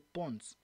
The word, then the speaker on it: Pons: Je vous donne un exemple, ça s'appelle Pons. Ça s'appelle Pons, P-O-N-S. P-O-N-S, ça s'écrit de cette façon-là.